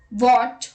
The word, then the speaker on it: what: H is not pronounced when it comes after W. Some speakers whisper the H before the W. Let's look at the examples. What, when, where, whether, why.